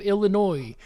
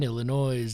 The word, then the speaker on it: Illinois: My own state of Illinois. Hope you don't pronounce the S in Illinois.